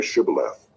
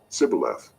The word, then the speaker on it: Shibboleth: When he said no, they said to him, Then say Shibboleth. And he said, Sibboleth, for he could not pronounce it right.